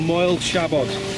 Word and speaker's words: Moel Siabod: So, we're coming down off the mountains now once again pronounce the mountain for me... - It's called Moel Siabod - Moel Siabod - Yeah - It's good to have someone